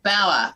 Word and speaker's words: Bauer: Bauer. Bauer, got it.